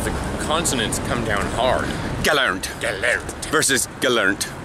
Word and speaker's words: gelernt: Because in English, if you were to do an English pronunciation of a German word, like learned, it would be gelernt. In German, it's gelernt.